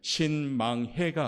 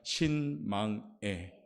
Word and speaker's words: 신망애: 발음을 잘 하셔야 돼요. 신망해가 아니라 신망애. 망한다는 게 아니라 애로 가셔야 돼요.